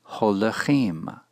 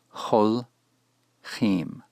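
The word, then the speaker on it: הולכים: It's pronounced ho-le-chim, not hol-chim.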